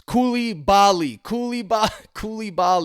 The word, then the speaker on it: Koulibaly: Okay, I know it's Koulibaly, but let's just call him Cooley.